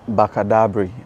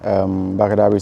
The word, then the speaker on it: Bakadabri: Bakadabri everywhere. Bakadabri. Sometimes you spell it for us.